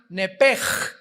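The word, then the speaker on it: נֶפֶשׁ: que al salírsele el nepesh, apúntalo ahí, el alma en el hebreo es nepesh, se pronuncia nepej, la CH en hebreo se pronuncia como J, nepesh, murió.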